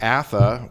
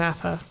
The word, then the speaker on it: Atha: Over there it's pronounced Atha, which is how often people pronounce my name.